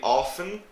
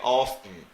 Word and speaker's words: often: the pronunciation of this some people pronounce the t and some people do not some people say often and some people say often so it's completely down